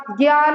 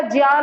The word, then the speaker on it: ज्ञान: ज्ञान नहीं होता, ज्ञान होता है, ठीक है। हम जो ये ज्ञा ज्ञा करते रहते हैं ना, ज्ञानी ज्ञानी होता है, तो इसका सही प्रोनाउंसिएशन संस्कृत में ज्ञा नहीं होता, ज्या होता है।